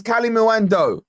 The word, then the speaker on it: Kalimuendo: It's Kalimuendo. There's no S, Stu.